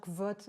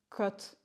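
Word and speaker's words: Kvothe: Dans le sud-ouest, on prononce toutes les lettres. Donc j'ai tendance à dire vote. Mais il me semble que dans un des livres, il précise bien qu'on dit côte.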